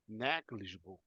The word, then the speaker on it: negligible: The little apostrophe in the first syllable. Negligible.